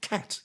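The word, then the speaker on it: khat: symptom of withdrawal from a stimulant called cat and that's spelled k h a t so not like the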